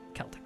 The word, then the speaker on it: Celtic: How is it pronounced? Is it Celtic or Celtic? Celtic, right?